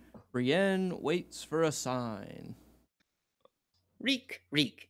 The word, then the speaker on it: Reek: Reek. It rhymes with weak.